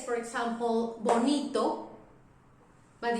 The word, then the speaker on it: bonito: If I say, for example, bonito, but if I say vaca, it's exactly the same sound.